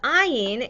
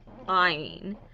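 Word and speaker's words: עין: that was silent nice so iron and olive sound the same historically not every uh dialect pronounce pronounced in the same as aleph so ein used to be more like guttural sounds like iron so some scholars will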